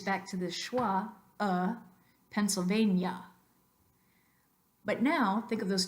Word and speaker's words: Pennsylvania: these words in English Maria Maria and Pennsylvania Pennsylvania that is natural native English so look at